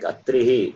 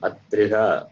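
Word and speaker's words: अत्रिः: Like Atrihi. Here it will be. Sorry? Atrihi. It is not Atriha.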